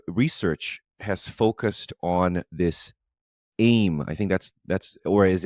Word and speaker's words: AIM: A lot of your research has focused on this AIM. I think that's or is it AIM? I don't know if they pronounce the acronym as AIM.